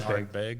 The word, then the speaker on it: Ardbeg: Ardbeg.